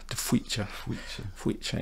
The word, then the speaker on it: De Faoite: But albeit when you see it written and you've no idea how to pronounce it. It's Tweecher.